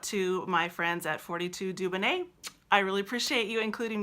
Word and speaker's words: Dubonnet: for 2d ubo in and et that it's pronounced Dubonnet and it's after the Dubonnet cocktail that was